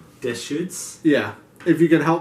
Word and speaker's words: Deschutes: try to pronounce this I think it's pronounced - shoots dish shoots yeah if you can